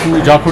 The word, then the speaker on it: जाखू: संस्कृत में इसका प्रोनाउंसिएशन करेंगे तो जाखू नाम बनता है।